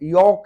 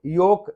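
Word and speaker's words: yolk: लेकिन यहाँ पे ये योक है। योक वो जो अंडे की जो जर्दी होती है उसको कहते हैं योक, तो यहाँ पे योक है, इसमें एल है लेकिन एल साइलेंट है।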